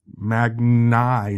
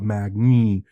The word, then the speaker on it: Magni: I also wrote out and a phonetic pronunciation of their names because Magni, not Magni, Bellianne, not Bellan.